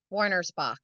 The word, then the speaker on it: Wernersbach: Kelly how do you say your last name Warner spach Warner Spock and and she is of adjust your sleep